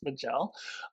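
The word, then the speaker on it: Maj'el: To me, every time they say her name, it sounds like they're saying Michelle, but it's Bajel.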